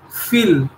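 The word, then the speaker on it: viel: Once we are saying fill, right, the spelling is V-I-E-L. It is not will, it is fill, for fill, right?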